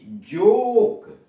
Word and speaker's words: joke: आया है, उसके पहले ओ, इस ओ का उच्चारण ओ जाए तो नोज, नाक। होप, HOP, होप, आशा। JOKE, जोक, JOKE, जोक, मजाक।